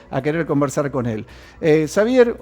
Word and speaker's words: Xavier: si lo puedo aprender es javier o xavier ver ahora te escucho un poquito mejor xavier con x saber de qué origen